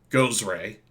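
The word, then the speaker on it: Gozreh: what was it again go Ray sorry spell it again oh g o z re h goes R Take the A out and you got it wait that goes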